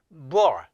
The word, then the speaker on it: bull: 먼저 참 발음부터 설명드릴게요. 요 L 발음은 쉽지가 않아요. 이것도. 자, 그냥 볼 쉽게 이렇게 하지 말고요. 뭘 하면서 요 L 이게 역시 입천장이고 이게 혀예요. 위에 이렇게 탁 대주세요. bull. 부얼 마치 부얼 이런 발음이 나요.